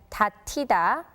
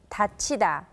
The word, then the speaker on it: 닫히다: In the case of the word 닫다, to close, we would think the passive form would be read as 닫히다, but the correct pronunciation is 닫히다.